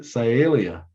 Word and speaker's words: Sialia: genus are bluebirds in you remember and to pronounce it sialia sialia all right so here's our last chance